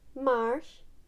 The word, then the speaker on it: marche: my shape hey Marsh L Marsh so it kinda just sounds like marsh and but they do have different spellings in the end so it's just how it's pronounced and I'm going to